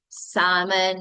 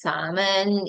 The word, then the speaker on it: salmon: all right like uh the word salmon not salmon it's salmon it's almond it's milk okay and bread or bread or bread or red all right so something like that.